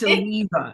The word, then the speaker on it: Mambetalieva: It's Mambetalieva. You see what It's I'm a saying? mouthful, I know, and I didn't change it on purpose. I wanted everybody to struggle with it. Mambetalieva.